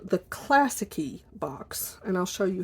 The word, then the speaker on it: Classiky: This box is called the Classicy Box. And I'll show you how that's spelled because they have it kind of on the box here.